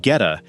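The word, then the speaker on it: Goetta: Number nine takes us to the historic streets of Cincinnati for a hyper regional breakfast staple called Geta. Pronounced gheta, this unique sausage patty is crafted from a precise blend of coarsely ground pork, steel cut oats, onions, and spices.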